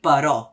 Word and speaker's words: però: Recorda, en català hem de dir però. La tònica és la O, no la E.